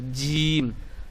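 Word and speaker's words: ج: তো দেখুন আলিফ, বা, তা, সা, জিম, এটি শক্ত করে উচ্চারণ করতে হবে, জিম।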